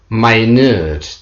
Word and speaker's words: minute: will only take one minute to get there as an adjective the pronunciation changes my nerd means very small the soil samples include